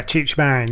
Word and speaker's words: Cheech Marin: Is that how you pronounce it? Cheech Marin? Yeah, Cheech Marin, yeah.